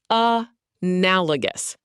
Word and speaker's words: analogous: Analogous, pronounced a nal o gus.